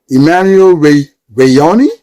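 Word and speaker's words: Emmanuel Wanyonyi: Emmanuel Reonei, that's how you say it.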